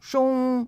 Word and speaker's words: 中: Zhong signifie horloge. Zhong signifie milieu. Ces deux caractères n'ont pas le même sens. Pourquoi la prononciation de zhong, horloge, est-elle identique à zhong, milieu?